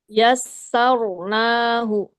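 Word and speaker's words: يسرناه: Bunda Khadijah yassarnahu kasih getarannya agak lebih dikit. Yassarnahu i bahkan satu pun cukup getarannya. Yasar. Yasar. Yas. Jangan yar.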